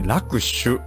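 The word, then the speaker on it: 落首: はいはいだあと落ちる首と書いて楽しなんかあんまり穏やかじゃない落ちる首でラシはいでもこれ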